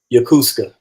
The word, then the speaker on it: Yokosuka: pronounce her name Yokosuka. Yeah, Yokosuka.